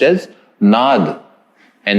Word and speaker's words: asana: methods or standards then it should just be pronounced as and not nada but just for universal acceptability and